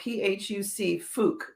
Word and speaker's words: Phuc: I would love to know, Phuc, that's how I would pronounce that name. Do you think that I've got that? Yes.